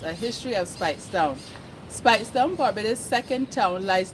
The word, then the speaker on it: Speightstown: According to place names of Barbados, Spite would have rhythm with 8 and pronounced spate, but the very strong Scottish brogue induced later Barbadians to pronounce it Speightstown as it is today.